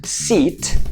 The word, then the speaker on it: seat: For example for me it would be the words: SEAT and SIT. So I would be in my car saying... SIT - SEAT. I SIT on my SEAT You see?